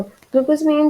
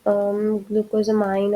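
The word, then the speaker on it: glucosamine: देखो, ग्लूकोज़ामिन जो है वो मेजरली ग्लूकोज़ामाइन और डिफरेंट तरह से इसकी प्रोनाउंसिएशन ली जाती है।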